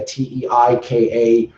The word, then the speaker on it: Teika: it's like TEI. Yeah, Teika.